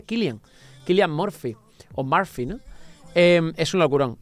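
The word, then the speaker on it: Cillian: no es por cierto San es kilan porque es es un nombre Irlandés creo que se pronuncia kilan kilan morp es un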